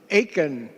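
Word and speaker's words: Aitkin: Aiken. Rhymes with bacon.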